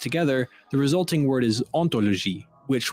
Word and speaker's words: hauntology: the resulting word is ontology which with its silent h sounds quite similar to ontology it's clever because ontology